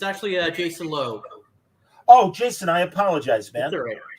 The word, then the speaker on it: Loo: All right, I took the two O's to be ooh, but Jason Lowe. I appreciate that. That's the anglicized pronunciation, Lou, but yeah, it's Lowe.